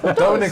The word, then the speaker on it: Dominic: I should make you pronounce it in Polish. Okay. Dominic.